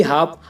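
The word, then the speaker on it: half: हथेली अब ऐसे ही हाफ अब हाफ में देखो गाइस एफ से पहले एल आया हुआ है तो इसमें एल साइलेंट है और इसकी हिंदी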